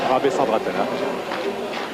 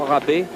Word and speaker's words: Rabesandratana: Rabesandratana. Là, et sa mère demande Dagno, sa mère demande qu'on prononce son nom en entier et pas seulement Rabé comme on le fait de temps ici.